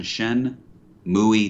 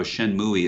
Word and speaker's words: Shenmue: he's like no no you're doing shen muy tui and three and i said i don't think it's pronounced that way and he was like i will tell you how shenmue is pronounced it sounds like banjo-kazooie it's from you suzuki